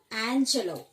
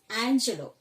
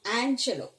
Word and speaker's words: Angelou: was written by Maya Angelou. Don't pronounce her name as Angelo, it is Angelou, okay. She herself stated her name as Angelou, okay.